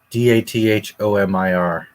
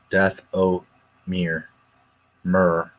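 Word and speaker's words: Dathomir: finish death Amir twice d a t h m IR R death oir mrr is how you would pronounce it Greeno but death oir death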